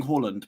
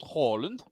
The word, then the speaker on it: Haaland: The 2 A's in Norwegian make it Hall. It's Hall. All right, Jens is the group Norwegian. Let's hear his verdict. Jens Erling Braut Haaland.